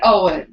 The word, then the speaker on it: Ioan: Owen. And probably I think they say it. Yeah, it's spelled strange. IOAN. Yes, like an ion. That's why I think I think they say it Owen.